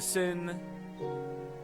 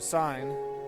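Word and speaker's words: sine: Now, this is the sin, a sign. I always say sin because it's spelled that way.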